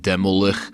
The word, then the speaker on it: Demilich: you get the band Demilich from Finland, and they actually pronounce it Demolich, and you get Isengard from Norway, they call their band Isengard.